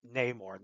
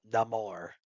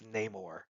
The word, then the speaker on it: Namor: Yes, it's pronounced Namor, not Namor. It's Namor.